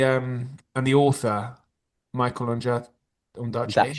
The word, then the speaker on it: Ondaatje: I wouldn't bother if you if unless you're obsessed, but um Minghella and and the um and the author Michael Ondaatje Ondaatje. How do you pronounce it?